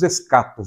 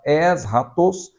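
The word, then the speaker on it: ἔσχατος: Nós falamos escatos, né? Mas no grego a pronúncia correta seria esta, eschatos, que significa último, aquilo que vem por último.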